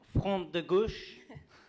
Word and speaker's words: Front de Gauche: Obono, who is from the Front de Gauche, is the correct pronunciation, the left front in France.